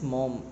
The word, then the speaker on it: Maugham: The story is written by William Somerset Maugham, Maugham. So the pronunciation is Maugham.